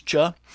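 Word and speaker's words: Chöd: practice on your own Cho usually spelled c-h-o-d but pronounce d is not pronounced so it's cha it's a traditional meditation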